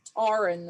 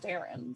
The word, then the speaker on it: Taren: was butchered for years i was called tauren instead of taren so is it probably